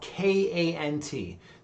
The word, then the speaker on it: Kant: you heard of him it's spelled k-a-n-t not uh not can't like the contraction but immanuel kant and